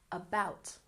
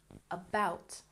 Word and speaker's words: about: walked Walked good and about has stress on the second syllable about about and Italy has stress